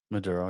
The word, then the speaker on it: Maduro: Maduro. Am I saying it right? Maduro? Maduro, yeah.